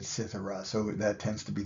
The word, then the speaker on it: cithara: Here we've got Apollo, and he is holding a cithara or a kithara. The Latinate spelling would be with a C, and we would pronounce it cithara.